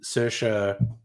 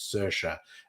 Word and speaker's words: Saoirse: I just remember that her name is pronounced really differently to how it looks. Her name's Saoirse, and it looks like Reese or something.